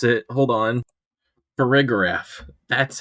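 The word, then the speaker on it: Farigiraf: already forgot how to pronounce it hold on paragraph that's how you pronounce it I'm I'm just gonna call this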